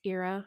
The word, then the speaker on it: Ira: I once introduced myself as Ira rhymes with Jira, and then immediately hated myself after.